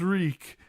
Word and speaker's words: Reek: My name is Reek. It rhymes with leak.